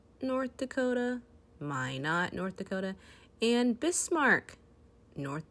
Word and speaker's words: Minot: there and some cities in north dakota are minot north dakota my not north dakota and bismarck north dakota ohio ohio